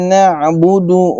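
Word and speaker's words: نعبد: Oke, na'budu. Na'budu itu adalah di ainnya na'budu, tidak na'budu, tidak na'budu. Kalau na'budu keliru dengan hamzah. Dan ini fathah ya, kalau keliru dengan hamzah. Na'budu dan na'budu. Na'budu memiliki ainnya itu bainiyah antara syiddah dan ikhwa. Na'budu, na'budu. Nah, lagi-lagi makhrajnya kita ingat ain dari tengah tenggorokan.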